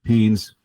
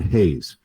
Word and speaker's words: Haynes: He could not pronounce Haynes. He kept saying Hayes and you know uh there there was a Justice Hayes that played at Michigan earlier.